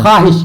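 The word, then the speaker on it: خواہش: में नूर तो देखिए यहां ख्वाहिश लिखा है। लेकिन हम लोग क्या पढ़ते हैं? ख्वाहिश। क्या बोलते हैं? ख्वाहिश बोलते हैं कि नहीं बोलते हैं? ख्वाहिश बोलते हैं? नहीं। ख्वाहिश बोलते हैं। यानी वह है लेकिन वह साइलेंट है।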